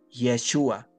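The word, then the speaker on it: ישוע: Jesús significa Dios salva en el idioma original del arameo lengua de Jesús se pronuncia yeshua que significa Dios salva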